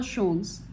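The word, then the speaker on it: Sholes: Christopher शोल्स, इसका pronunciation होगा शोल्स, is credited with keyboard layout that is used to till date called QWERTY layout.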